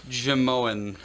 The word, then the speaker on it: Jimeoin: Apparently, it's pronounced Jamoan.